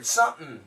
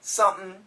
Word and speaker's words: something: think a comic and I saw this word sumthin sumthin and I asked my father dad what is Sutton and my dad said oh that means something but that's the way country people talk so don't speak like that that's what my dad